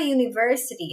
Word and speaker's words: university: Então, quando começa com o som de consoante, a palavra university, ela começa com a letra U. No entanto, o som inicial é de you, como em de palavra você, como yes.